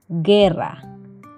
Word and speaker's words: guerra: e iu y latina cuando esto ocurre el sonido será de la letra o no se pronuncia por ejemplo guerra guisantes h la h